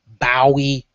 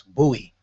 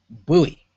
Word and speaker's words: Bowie: And for those of you that are not familiar with the Maryland area, I actually heard some of you pronounce it as Bowie. It's Bowie, Bowie, Maryland, okay?